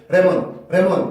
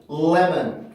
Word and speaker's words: lemon: 영어라는 언어가 순서에 입각해서 발음을 한다라고 치면은 레몬 이렇게 나는 게 아니라 L 발음을 이용해서 강세를 만들어주는 역할을 하니까 L 발음 소리의 순수 소리인 lemon, lemon, lemon 이 앞에 을과 비슷한 소리가 먼저 나올 수밖에 없어요.